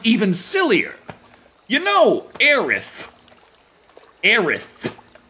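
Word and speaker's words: Aerith: of Final Fantasy 7 it was translated as AIS and and immediately immediately American weebs in the 9s were they like it's actually aith they they thought we couldn't pronounce aith right so they said it they made it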